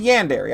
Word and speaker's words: yandere: a what what is there yeah daddy a yandere a yandere yeah okay a yandere crazy lady yeah i know what how do you say that yandere okay whatever no it's a yandere i got you i got you i'm i'm